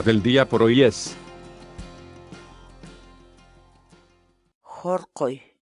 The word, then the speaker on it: horqoy: de videos en la que te enseñamos a pronunciar algunas palabras en quechua. Así que nuestra palabra del día por hoy es Jorqoy, jorqoy, jorqoy, la palabra quechua.